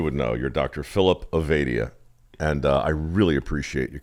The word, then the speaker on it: Ovadia: So the interesting thing is my family has always pronounced it Ovadia, but Ovadia is the technically correct way to pronounce it.